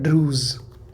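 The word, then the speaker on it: Druze: है वो है ड्रूस ड्रूस है साहब ड्रूस क्रूज होता है ना वैसे ही ड्रूस है डी आर यू जेड ई ये स्पेलिंग इसकी इंग्लिश में है हिंदी में इसको ड्रूस ही तो कहेंगे तो ड्रूस क्या है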